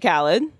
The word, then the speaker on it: Khaled: DJ Khaled. I've heard of that. You know it rhymes with salad.